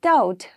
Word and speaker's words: doubt: now next is doubt in doubt i don't say b right d or u b remains silent and d doubt right so b is a silent word in doubt now need in need